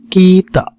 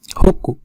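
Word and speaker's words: 北: So the pronunciation of kanji, this is called kita. Kita kanji. Here is one sound is kita. Another sound is boku. Hoku. Sorry. Another sound is hoku or hook.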